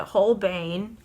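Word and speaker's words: Holbein: So, I have the whole bane whole bine however you pronounce it. Let me see what it says in Japanese. They pronounce it whole bane.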